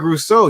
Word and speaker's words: Rousseau: So I have them taking Greg Rousseau. Is that how you pronounce it? Am I yes, correct? sir. Yeah. Here we go. Greg Rousseau.